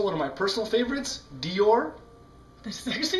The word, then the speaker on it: Dior: gabana and also one of my personal favorites Dior that's is actually how you say it